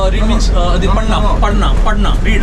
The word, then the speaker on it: पढ़ना: read means the padna.